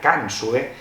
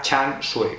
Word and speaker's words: Can Xue: llegado a casa dos libros de chanu decía can su que es como se leería en español pero vi un vídeo en internet de la traductora de Belén cuadra y ella lo pronuncia Chan sue con lo cual Esta es la pronunciación normativa